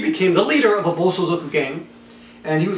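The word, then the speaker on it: bōsōzoku: Then he became a bozozoku. Bozozoku, I always pronounce that wrong. Is that right, Yukari? Bozozoku? Bosozoku. Bosozoku. The so is wrong.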